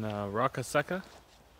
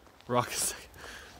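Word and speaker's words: Roccasecca: Currently in Rocca Secca. Rocca Secca. That's how you pronounce it.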